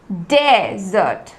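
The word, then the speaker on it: desert: ज्यादा फॉक्स डालते हैं जैसे की डेजर्ट डेजर्ट तो हम इस पर ज्यादा जोर दे रहे हैं स्टार्टिंग के जो फर्स्ट सिलेबस है स्टार्टिंग का जो लेटर्स है उसे पे ज्यादा हम फोर्स देकर बोल रहे हैं डेजर्ट डेजर्ट हम कैसे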